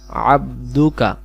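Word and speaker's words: عَبْدُكَ: লিখে দিয়েছি খলাকতানি আনা আবদুকা এইটা হলো আইন অক্ষর গলা লাগবো আবদুকা আপনি আমাকে সৃষ্টি করেছেন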